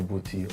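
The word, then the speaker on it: Bouti: The group is called Jungle Booty Orchestra, but it's spelled B-O-U-T-I.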